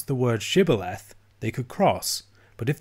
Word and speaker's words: Shibboleth: all tested at the Fords if they could pronounce the word Shibboleth they could cross but if they used a characteristic ephraim might miss pronunciation Sybil F they were killed the Ephraim eyes despite seeing